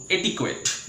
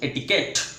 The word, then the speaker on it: etiquette: well friends next one ETIQUETTE जाको आमे समस्ते प्राय प्रोनाउंस करू एटिक्वेट फ्रेंड्स तार माने एटिक्वेट नुहे तार माने होची एटिकेट say it after me etiquette what's that friend etiquette